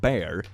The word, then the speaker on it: Bexar: boy Eastern oh okay Bexar pronounced bear how do you get Bexar to be pronounced bear I swear to God